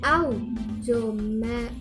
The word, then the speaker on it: automobile: Auto, automobile, out is primary stress. To and mo is unstressed, and bile is secondary stress.